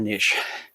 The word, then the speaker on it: niche: you to find your niche. Your niche, your niche. Nobody can agree on how to pronounce it. Both are correct.